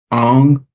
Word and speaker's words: Ong: Allison Ang. Did I pronounce that right?